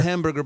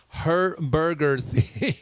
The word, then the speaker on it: Herberger: a Herberger theater Center Herberger a little bit different to pronounce for me amber not him not hamburger but her burgers Center 3rd Street in